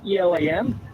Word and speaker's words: Elam: request healing right my last name is Elam it's mail sell backwards right so remember I'm a male spell it backwards that's my last name evil guys